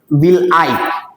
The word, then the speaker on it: villi: विल आई, VILLI, wheel spelling है लेकिन उसको बोला जाता है विल आई।